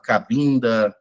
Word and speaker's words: Cabinda: começando por Angola, Moçambique, Cabinda, na verdade, né, pronunciei errado, Cabinda, África do Sul, que é a África Banto, que se cultua principalmente os inquinces.